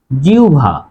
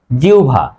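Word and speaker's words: জিহ্বা: থাকে তাহলে হয়ে যাবে ব হয়ে যাবে ভ উচ্চারণ হবে জিউভা উচ্চারণ হবে জিউভা প্রিয় শিক্ষার্থী আমার এই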